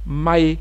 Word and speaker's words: Maé: Les OB, eux, ils prononcent, ils disent Maé. Maé, c'est le nom qu'ils attribuent à la ville de Mans.